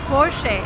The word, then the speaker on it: Porsche: the car is called porsche and that's the right way to pronounce it because it's a german name the stress goes to the first part of the word and we say porsche remember never say porsche